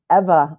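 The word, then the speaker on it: Eva: as they were traveling from hugan Kansas to ever Oklahoma I've been advised that is the correct pronunciation ever like forever and they still have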